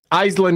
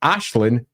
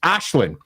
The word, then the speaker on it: Aislinn: something like, "Oh, and that character's nickname is Ash."